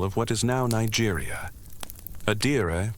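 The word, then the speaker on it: adire: Adira, pronounced a di was a prominent resist dying tradition.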